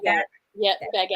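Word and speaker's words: Bagent: Baggett.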